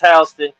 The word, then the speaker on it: Houston: Spelled the same as Houston, but pronounced Houston, Delaware.